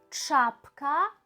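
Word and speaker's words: czapka: Так, до прикладу, два слова: чапка і часто. Ч тверде чапка часто м'якше вимовляється.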